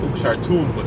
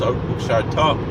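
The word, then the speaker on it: וּקְשַׁרְתָּם: last syllable, then it's it's not ukshartum, it's ukshartam. It's not ikshartum, it's ikshartam.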